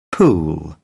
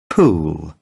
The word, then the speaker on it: pool: Pool. Pool. No confundamos la pronunciación cuando veamos estos símbolos fonéticos.